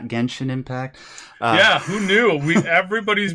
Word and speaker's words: Genshin Impact: yeah didn't didn't you know though sai it's pronounced gentian impact and not genshin impact yeah who knew we everybody's been pronouncing sorry